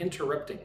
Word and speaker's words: interrupting: Look at the word interrupting. Interrupting. Interrupting. Interrupting. Put emphasis on inter and upping.